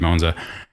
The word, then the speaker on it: Monza: God, I keep switching back and forth between something like a Italian person with Monza and Monza. Like, Monza. Americans say Monza.